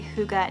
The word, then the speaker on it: hygge: my room a really hookah natural vibe if you've never heard of the word hookah before which is spelled hy gge it's a Danish term that means coziness but